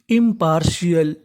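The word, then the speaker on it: impartial: TIAL को हम लोग इंग्लिश में पढ़ते हैं शेल, यानी आपको इंग्लिश में कहीं पर TIAL लिखा मिले तो आपको TIAL का उच्चारण करना है शेल, तो मीनिंग बनी IMPAR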